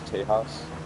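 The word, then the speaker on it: Tejas: So, so the name Tahas, which it's not T E H A S, it's T E J A S, but you pronounce it as Tahas.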